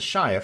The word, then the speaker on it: Shire: yorkshire Foods that's fine because how do you pronounce the shire from Lord of the Rings is it sure no is Shire the implication being I think